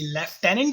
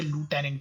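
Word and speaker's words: lieutenant: इसके अलावा अगर मैं रैंक की बात करूं तो आपको रैंक इसमें मिलेगी लेफ्टिनेंट की, या फिर आप उसे लूटेनेंट भी कह सकते हैं।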